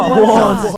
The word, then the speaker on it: Juwan: It's Juan. No, Juwan.